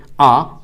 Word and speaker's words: a: এ যখন আর্টিকেল হিসেবে সেপারেটলি কোনো বাক্যের মধ্যে থাকবে, আর্টিকেল হিসেবে এ যখন থাকবে কোনো বাক্যে, তখন এটাকে উচ্চারণ করবেন আ। বাট অ্যালফাবেট পড়ার সময়, বর্ণমালায় ABCD এইভাবে পড়ার সময় এটাকে আপনারা বলবেন এই।